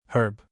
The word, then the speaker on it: herb: United Kingdom, zebra, zebra, herb, herb. In American English, United States, herb, herb silent h in British English, United Kingdom, herb. Herb with H.